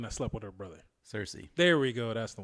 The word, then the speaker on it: Cersei: slept with her brother cersei there we go that's the one seriously rhymes with thirsty now it's time for